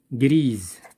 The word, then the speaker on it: Grise: Grise, il se prononce Z.